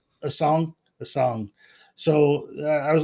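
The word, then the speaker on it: Essengue: How do you pronounce his name? A song.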